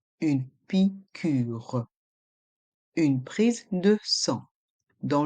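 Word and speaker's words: piqûre: une prise de s dans le mot picû il y a un accent circonflexe sur le U on prononce le U pure une picure une prise de sang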